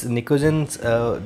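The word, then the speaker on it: pnictogens: Okay, they are also termed as nicogens. P is silent here. तो why this nicogens, this is the nicogens जो कि collectively इनके लिए नाम है.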